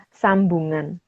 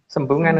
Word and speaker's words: Sembungan: Bukan Sembungan ya, Mas? Sembungan harusnya. Sembungan. Tapi mungkin bacanya ada yang bacanya sambungan gitu kali. Tapi memang artinya sembungan dan sambungan kan sama. Iya kan? Iya sih. Sembungan kan dalam bahasa Jawa.